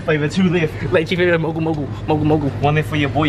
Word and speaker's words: Mogu Mogu: Mogu Mogu. Crowd being sponsored by Mogu Mogu.